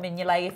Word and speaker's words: Mignolet: That's the pronunciation. So Simon Mignolet, if you could please refer to him rather than Simon.